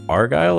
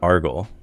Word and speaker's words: Argyle: have asked first but is it Argyle or argle it's like the socks like the the Scotsman in Braveheart I'm your uncle AR